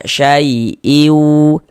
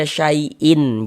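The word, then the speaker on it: شيء: Kita baca syaiu. Jangan dibaca syaiin. Jangan.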